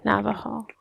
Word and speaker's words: Navajo: navajo nope that's harvard the j is pronounced like an h sorry navajo it's like spanish i don't know what